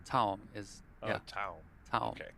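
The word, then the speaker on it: Taom: Also want to give a huge thank you to Aramith, Teom, Simonis, Fort Worth Billiards.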